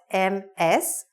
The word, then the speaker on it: Ms.: is spelled M-S, but it's pronounced like M-I-Z.